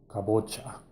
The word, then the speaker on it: kabocha: Cabo cha it's actually a corruption of a Portuguese pronunciation for kampuchea come to tias the